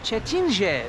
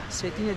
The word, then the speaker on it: Cetinje: figür ilan figürü setine Aslında çetince diye yazılıyor ama setine diye okunuyormuş transformatör da ned bu